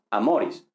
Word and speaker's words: amor: Amor, amoris. Pero vemos que aquí es amor con acento en la A, mientras que aquí es amoris con acento en la O, ¿vale?